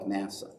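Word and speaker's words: נשא: or don't profane is the word nasa super easy to remember because you spell it like nasa but nasa which literally means lift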